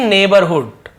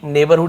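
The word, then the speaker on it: neighbour: किया जाता है माय नेबरहुड आंटी मेरी नेबरहुड यानी पड़ोसी आंटी चाची जी बोलते हैं इसे नेबर पढ़ते हैं ध्यान देंगे स्पेलिंग अलग नेबर पढ़ेंगे मेरी पड़ोस की चाची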